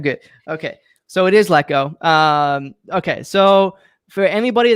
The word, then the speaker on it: Lecko: that's watching right now is your last name pronounced gecko it is let go okay see i thought in your bio it had showed with a g and i was like oh yeah i wrote it out hi phonetically it's like pronounced like gekko but that's good feedback i'll remove that okay yeah sometimes people say liko but it's let go i thought it was